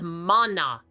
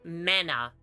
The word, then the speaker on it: mana: It's mana, not mana. I can see where you went wrong. You're pronouncing it exactly like it's written, so I don't fault you for making the mistake.